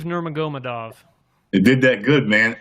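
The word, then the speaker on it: Nurmagomedov: So, this is how you pronounce it. Nurmagadov. Kabiv. Nurmagadov.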